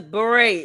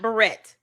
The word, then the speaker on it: beret: Rasberry beret cuz beret is how you pronounce that word not barret.